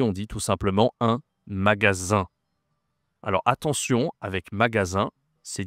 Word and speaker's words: magasin: Ça s'écrit avec un S. Et tu as une nasale à la fin. Magasin.